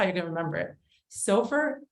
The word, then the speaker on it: SOFR: you're gonna remember it Sofer is pronounced like gopher and it's not soar meaning I've heard that